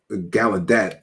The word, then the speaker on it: Gallaudet: hard to pronounce name Gala udet is how it's spelled gadet is how I've heard most people say it I believe uh but if you